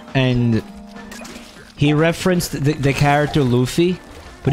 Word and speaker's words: Luffy: he referenced the character Luffy but he pronounced his name like loafa or something or some [